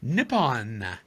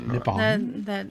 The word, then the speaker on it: Nippon: Nippon, actually, is what it's pronounced. Nippon.